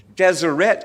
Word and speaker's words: Deseret: If you look at the old version, Deseret is pronounced Deseret. It's got an E sound in it.